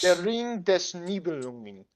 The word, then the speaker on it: Der Ring des Nibelungen: I'm going off of vague memory of how it's spelled. Once you Okay. find it, read it for us. Der Ring des Nibelungen.